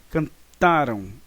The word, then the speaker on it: cantaram: Não, na verdade é um uso incorreto da sílaba tônica, né? Cantaram, e aqui é cantarão. Então a sílaba tônica está aqui no Rá. Tá? E aqui também nós temos a sílaba tônica, mas é no Tá. Ou seja, também nós temos o Rá, mas a sílaba tônica não está nele, está no Tá. No pretérito perfeito, nós temos então a sílaba tônica, na verdade, na sílaba antes do Rá, e no pretérito mais